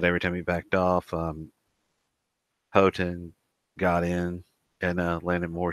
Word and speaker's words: Houghton: over McGuinness by unanimous decision or how or houghton I think I'm on let me get it